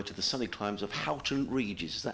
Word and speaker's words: Houghton Regis: I'm back home in July to the sunny climes of Houghton Regis. Is that how you pronounce it?